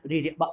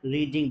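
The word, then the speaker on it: read: लिया I have रीड spelling spelling same होगी बट नसन वुड बी चेंज इसे रीड नहीं पढ़ेंगे आई हैव रेड बुक बोलेंगे जरा आई हैव रेड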